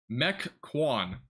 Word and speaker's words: Mequon: All right, I mispronounced that pretty badly, didn't I? Mequon.